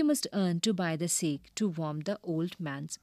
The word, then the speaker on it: sake: cracks narrow gaps openings sake a popular japanese drink sa is pronounced like far in father and k rhymes with way expensive costly made his way to went to page 31 6.